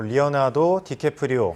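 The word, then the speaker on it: Leonardo DiCaprio: 말씀하신 것처럼 그 올바른 발음으로 리오나르도 디캐프리오.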